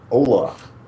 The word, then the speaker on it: hola: Hola. It's like the whitest Alright. hello ever. Yeah. Correct pronunciation is hola.